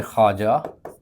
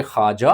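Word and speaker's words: خواجہ: अगला सवाल है कि ऐसी वाव जो लिखने में तो आए लेकिन पढ़ने में ना आए, साइलेंट कहलाती है, उसे वाव मादूल कहा जाता है। जैसे ख्वाब, जैसे ख्वाजा, लेकिन ख़वातीन में ये असूल नहीं अप्लाई होता, क्योंकि वहाँ पर वाव को पढ़ा जाता है, जबकि ख्वाजा और ख्वाब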